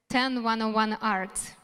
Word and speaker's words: 10101 Art: the head of the project 10 101 art this is how we pronounce it um yeah and today